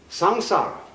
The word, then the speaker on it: samsara: sanskrit sa m s a a samsara it's pronounced samsara and although samsara is represented in a popular